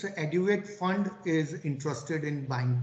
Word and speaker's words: Aduate: Aduate, is that the correct pronunciation? Yes, I also get confused how to pronounce this fund, but it's Aduate.